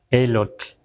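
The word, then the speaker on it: elotl: Es muy suave la TL al final. Elot, tetokot met, o sea, no es no es no debe ser muy exagerado, no debe ser muy largo como algunos pronuncian nesa walcoy así como muy largo, no está bien dicho, aunque así lo digan muchos locutores, ¿verdad?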